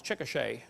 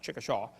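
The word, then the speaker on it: Chickasha: has it 2005 textbook and I pronounced it wrong as chiet not chikasaw chiet Oklahoma I got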